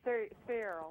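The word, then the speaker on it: Searle: Also, Donald Rumsfeld was the president of, how do you pronounce this, Cyril? Cyril.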